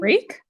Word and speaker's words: Rec: the bad guy wreck is that how you say his name reek reek I mean he does reek reek like r e c he's terrible he killed